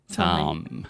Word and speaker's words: Tom: Tom. Fechar a boca com M.